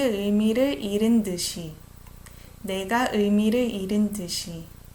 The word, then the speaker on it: 잃은: Even here, I didn't say 싫어서. We just almost make a silent H. 싫어서. 잃은 듯이.